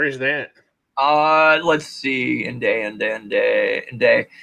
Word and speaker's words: Nde: the country around us in day is the word the native word for the Apache it's spelled nde just like that with an accent over